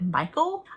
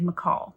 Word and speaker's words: Michal: I don't know why, but my whole life I've always said Michael. I've always thought her name was Michael, but then I heard someone else pronounce it. They said McCall.